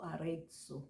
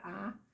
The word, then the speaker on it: Arezzo: Bom, é fato que as notas musicais foram criadas por um monge italiano chamado Guido Arezzo. Pode ser que eu esteja pronunciando errado, mas é Arrazzo, né, Guido Arezzo.